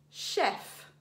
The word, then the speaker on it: chef: And the final alternative pronunciation for the grapheme CH is sh. Let's read some words. Sh-f, chef, the name of a woman or a girl.